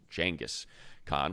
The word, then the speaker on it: Genghis Khan: about the emergence of Genghis Khan, or as he calls him, because he says it is the correct pronunciation, Genghis Khan, which I never knew,